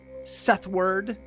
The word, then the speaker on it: Seth Ward: Sethward.